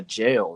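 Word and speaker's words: gaol: They spell it G like AUL instead of JAIL. But it's funny because if you just read it, like it's both of them spell jail.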